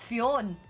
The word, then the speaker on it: Fionn: So I was like, it's pronounced Fionn. You've been calling that dog the wrong name the whole time.